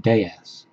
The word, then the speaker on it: DS: a citran DS although in France they pronounce it Dez because that's French for goddess and she is a